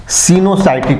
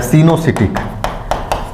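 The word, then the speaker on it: coenocytic: मैंने बताया दोनों एक ही है, बस इसको प्रोनाउंस अलग अलग तरीके से करते हैं। हिंदी में, इंग्लिश में जो लिखा हुआ है उसको 2 तरीके से प्रोनाउंस किया जाता है, सीनोसाइटिक या सीनोसिटिक। CY से शायद साई पढ़ लीजिए उसे, चाहे C पढ़ लीजिए, दोनों एक ही होता है।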